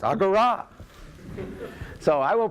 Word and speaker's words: agora: me don't i know the final alpha is accented in greek and i check with